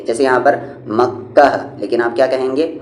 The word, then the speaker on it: مکہ: یعنی یہ ہا ہے لیکن اس کی آواز الف جیسی ہوتی ہے۔ جیسے یہاں پر مکہ لیکن آپ کیا کہیں گے؟ مکہ۔ کعبہ، عمرہ، عین پر